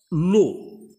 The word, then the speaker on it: eau: Alors, ici, on a l'eau. L'eau. L'eau. Alors, et l'apostrophe E-A-U. Alors, E-A-U se prononce O.